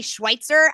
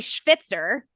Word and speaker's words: Schweitzer: it is given that I am always pronounced Schwitzer, which if you think, Cowboys coach, it could work great for dinner reservations. But in my world, it also means one who sweats.